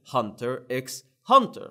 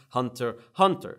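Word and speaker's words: Hunter × Hunter: that it's actually pronounced Hunter Hunter you you do not pronounce the X here is the definite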